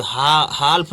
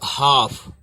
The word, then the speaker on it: half: पहले L आया है, जैसे HALF, तो हाल्फ नहीं बोलेंगे, हाल्फ, हाल्फ नहीं बोलेंगे, यहाँ पे क्या बोलेंगे? F के पहले L है, ठीक है। यहाँ पे हमने F आया है ना, तो इसके पहले L आया है, तो क्या करेंगे? इसको हम साइलेंट रखेंगे L को, तो हाफ, हाफ, हाफ, ठीक है।